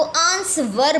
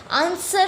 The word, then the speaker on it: answer: silent होता है अब काफी बच्चे ऐसे होते हैं जो आंसर को आंसवर बोलते हैं जो कि गलत है आंसर होता है आंसर नहीं होता और इसी बात से